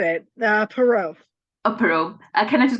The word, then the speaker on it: Perreault: Perot.